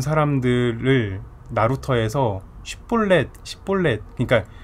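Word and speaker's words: שיבולת: 그래서 쉽볼렛이라는 발음을 하게 해서 못하면은 십볼렛 이렇게 하면 다 죽이는 거예요.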